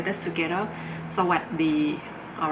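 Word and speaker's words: สวัสดี: And keep in mind that Thai language, when you pronounce it, you omit the last syllable of the pronunciation. Like for example, this Sawasdee, you're not supposed to say Sawasdee. The S is omitted because the final sound of the words are often omitted in Thai language.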